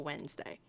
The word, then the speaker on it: Wednesday: It's the fact that you sound it out does not quite work the same way for Wednesday, because so much of that word is silent.